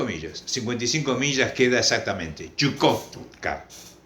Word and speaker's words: Chukotka: hielo este 55 millas 55 millas queda exactamente chukotka chukotka Ese es el nombre Entonces qué sentido se